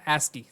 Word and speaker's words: ASCII: ASCII यहाँ पर ASCII है, आई जो है इसको इस तरह प्रोनाउंस इस तरह ASCII किया जाता है।